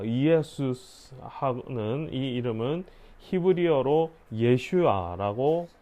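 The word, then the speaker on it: ישוע: 어, 그리스도 그리스도 발음으로 하면 어, 이예수는이 이름은 히브리어로 예슈아라고 할 수 있습니다.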